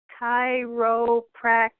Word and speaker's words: chiropractic: And by the way, the word chiropractic has 4 syllables. The faster you say it, we're not educating people how to say it correctly. So when you say chiropractic fast, that's what they hear, then we're putting wrong information out there. Chiropractic. It takes 4 syllables to say that correctly.